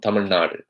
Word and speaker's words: Tamil Nadu: supposed to be said so I would never say if I was from Tamilnadu I would never say I'm from Tamil Nadu it really it really angers me when I hear it pronounced that way I say I'm from Tamil Nadu Tamil Nadu so I actually try and say it the way it's supposed to be pronounced even if even if